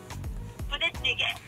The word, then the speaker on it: 부대찌개: 부대찌개.